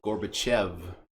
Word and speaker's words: Gorbachev: Reagan and Reagan and Gorbachev gorf there's no F even though it's how you say it there's no F you could see how that would throw somebody off Gorbachev okay Gorbachev Gorbachev yeah